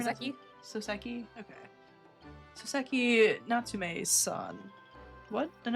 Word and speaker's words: Soseki: How are you pronouncing Soseki? it? Soseki?